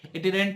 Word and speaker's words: itinerant: इसको हमें कैसे प्रोनाउंस करेंगे? इट इनहेरेंट tailors, इटिनेरेंट tailors. और दूसरा होता है बच्चों हमारे फिक्स्ड शॉप रिटेलर्स।